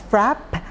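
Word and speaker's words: frappe: again I'm going to refer to this as frap that means with a silent e at the end for the milk I'm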